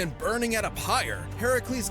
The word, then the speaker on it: Heracles: legend of Heracles Heracles it's it's pronounced Heracles not Hercules am I tripping somebody